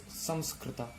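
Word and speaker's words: Saṃskṛta: For example, it is this actually pronunciation is Samskrita, which means perfect in the language.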